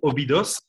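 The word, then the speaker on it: Óbidos: au 9 octobre à Obidos je prononce ça bien tu le proposes tu le dis à la portugaise donc c'est cool si vous êtes français en général en français on entend plutôt Obidos c'est à 40 minutes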